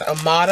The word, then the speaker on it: Moda: from their Moda line that's Amada that's how you pronounce it I got the